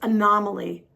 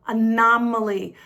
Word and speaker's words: anomaly: The next word is anomaly. Nom nom. Nama. Anomaly. An anomaly is something or someone that's quite different from the common type or an inconsistency in something.